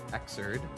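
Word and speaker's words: Xrd: Zerd, I pronounce it as Xerd.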